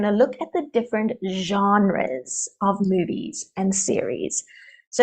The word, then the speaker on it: genre: topic all right so it is a French word so the pronunciation's a little difficult genre genre so we don't have the S on the end and it's the Sonata genre it's genre okay if you hear